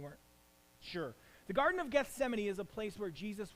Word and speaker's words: Gethsemane: that the Bible calls The Garden of Gethsemane it's how you pronounce it in case you have read that and you weren't sure the Garden of Gethsemane is a place where